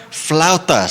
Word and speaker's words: flautas: It's Flautas. Can you say it for everybody? Flautas.